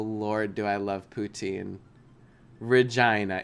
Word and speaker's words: Regina: do I love poutine Regina it is Regina it just sounds cuz it rhymes with vagina you know but yeah